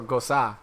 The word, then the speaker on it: Gose: Is it supposed to be pronounced like the Rosa. Yeah, no, it's like Rosa. So Gosa. Gose.